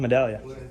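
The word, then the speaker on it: Medaglia: Uh, Medallia. Yep. You spell it J O H N.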